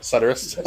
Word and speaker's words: Suturist: because then after I had it say the pronunciation of the name, and it said Suturist. Yep. Suturist.